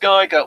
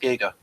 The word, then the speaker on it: Giger: and and folks people are thinking oh it's pronounced Gyer well he actually said we actually wrote In the book that uh no it's pronounced Giga and because he was annoyed at Americans calling him Giger when he won his Academy Award and say